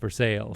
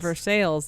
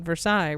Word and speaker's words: Versailles: in uh Kentucky called versale versai but it's pronounced versales versales and so you know when you got an outsider there if they call it Versailles right totally and and so it was a